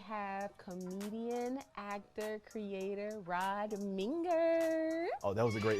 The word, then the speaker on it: Minger: I was just It's Minger. It's spelled like finger. It's Minger. Yeah. It's spelled like ringer, singer, dinger, binger, all those things.